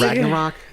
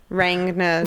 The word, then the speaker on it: Ragnarok: Ragnarok. It's just a Now badass that I word. know how to pronounce, I kept calling it lots of different things. Rangna something.